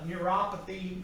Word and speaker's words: neuropathies: Abdominal pain, neuropathies, neuropathy is how it's pronounced.